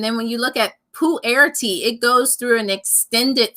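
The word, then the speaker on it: pu-erh: i had mentioned is poo air tea which sounds gross but it's not maybe maybe if holly can like spit oh she did did she spell it out pull it out yeah i see it all night so it's poo air tea it's it's basically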